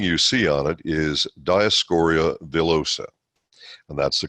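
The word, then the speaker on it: Dioscorea villosa: the first thing you see on it is diascoria vilosa and that's the correct pronunciation by the way it's taken from a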